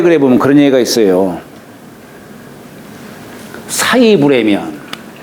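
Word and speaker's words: 食: 보면 그런 얘기가 있어요 사이 불라면 이게 먹을 식자를 갖다가 누굴 매긴다 할 때는 사라고 읽어요 매긴다 할 때는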